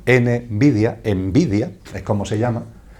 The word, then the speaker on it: Nvidia: tiene el curioso nombre, lo pronuncio en castellano, ¿vale? Envidia es como se llama, nvidia, envidia es como se llama esa empresa envidia.